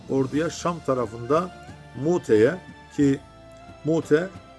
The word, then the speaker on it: Mute: Şam tarafında muteye ki Mute kelime hemzesi şekilde Mute diye okunur Eskiden Şam topraklarında yer